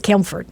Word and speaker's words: Campbellford: cample for campel for the P still is silent but if you talk if you speak to someone from Campbellford yeah that's how it is camford yeah instead of Campbellford yeah and yeah I